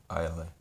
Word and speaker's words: Islay: Islay. Isleys. They spell it Isleys, but it means Isles. Islay.